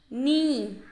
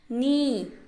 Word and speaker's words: knee: is this new mean me this is me me K is silent okay students K is silent me me what is